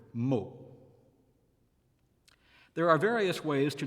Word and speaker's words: mot: O is open in the feminine adjective meaning soft, molle, and close in the word meaning word, mot.